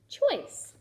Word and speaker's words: choice: Remember the silent E makes the C say s. Ch-oy, s. Choice.